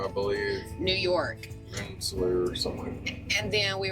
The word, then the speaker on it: Rensselaer: We ended up getting a load out of, I think it's pronounced Rensselaer, Rensselaer, I believe. New York. Rensselaer or something.